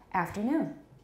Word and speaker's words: afternoon: because you're taught that the main stress is on aft but it's not on aft it's on noon afternoon afternoon everybody good afternoon